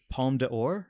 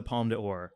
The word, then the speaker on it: Palme d'Or: And then he won the, please pronounce it better than me, Palme d'Or? Palme d'Or, yeah.